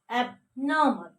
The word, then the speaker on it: abnormal: Abnormal, a, ba, na, a, ma, la, abnormal. We have to, this one is silent, okay? Abnormal, not mal, abnormal.